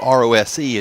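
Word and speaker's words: Rohs: It's not spelled R-O-S-E as you might expect when it's pronounced Rose.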